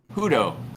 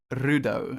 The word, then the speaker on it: Rudo: Hudo. Rudo. Am I pronouncing it right? Hudo? Rudo. Like there's a rolling of the R at the start.